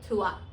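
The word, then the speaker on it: trois: एंड इज a consonant so वी डू not pronounce the S letter here so we only say थुवा एंड नाउ यू can take the example of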